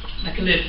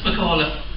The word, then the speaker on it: McAliffe: I am north of Dublin when my name gets pronounced McAliffe. It's McAliffe down south.